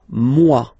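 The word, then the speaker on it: moi: So remember this o e combination give you the sound waw mwa.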